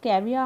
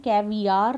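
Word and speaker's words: caviar: अब ये पढ़ने में कैवियार लगता है, लेकिन इसकी जो एक्चुअल प्रोनाउंसिएशन है वो है कैविया, आ पर ही ख़त्म है, र की साउंड नहीं है पीछे, कैविया, ठीक है, सुनने में मतलब यही आएगा कैविया।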